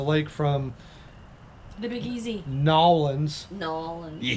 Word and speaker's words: New Orleans: NAW-LINS. NAW-LINS. Yeah. Gotta make sure you say it right, because you'll get hung up by a tree if you start calling it New Orleans.